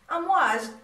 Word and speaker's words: Amouage: So in case you are wondering or curious about what the name means, and it is pronounced exactly the way all people say it and the way it is written, Amouage, waves.